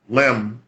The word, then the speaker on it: Laamb: or I know I'm pronouncing it wrong, Mm-hmm. but Lamb, Laamb is the Mm-hmm. Senegalese pronunciation of the art.